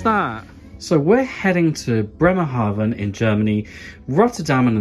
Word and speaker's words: Bremerhaven: So you're travelling to a place and the pronunciation is Bremerhaven. I'll say that again, Bremerhaven, because V's are pronounced like F's.